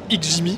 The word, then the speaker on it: XGIMI: c'est quoi alors déjà on va le prononcer x Jimmy parce que c'est pas toujours évident alors déjà merci de